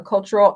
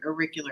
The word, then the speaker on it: auricular: How do you pronounce that? A cultural acupuncture, is that Yes, right? auricular acupuncture.